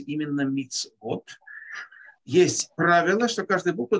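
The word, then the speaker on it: מצוות: Буква «цади» имеет огласовку «шва» внизу. Поэтому у нее не может быть огласовка «хулам», то есть «вав» с точкой наверху. Поэтому «вав» – это не что иное, как буква, которая читается «в», которая имеет огласовку, просто отдельная точка, стоящая наверху.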